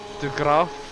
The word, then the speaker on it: De Graaf: How's it pronounced? De Graaf.